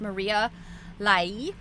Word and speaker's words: Maria Lai: Her name is Maria Lai. I checked the pronunciation.